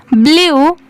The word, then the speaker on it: blew: इसे क्या पढ़ेंगे ब्लू, अगर यहाँ पर BLE के जगह पर O होता तो इसे क्या पढ़ते ब्लो, BLOW होता तो इसे ब्लो पढ़ते, बट यहाँ पर क्या लिखा हुआ है ब्लू, BLEW, ठीक है।